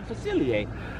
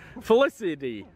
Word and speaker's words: Facilier: Facilier. It is Dr. Facilier. You were gonna see what Nate came up with. What? Were you trying to get me to pronounce it wrong? No. Dr. Felicity.